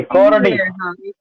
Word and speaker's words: chordee: इसको कॉर्डी ही बोलते हैं वैसे क्या? हाँ कॉर्डी, ये अपवर्ड डाउनवर्ड ऐसे अलग अलग हो सकती है।